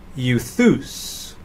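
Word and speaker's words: εὐθύς: And lastly, epsilon upsilon is pronounced as the EU in feud, and so euthus.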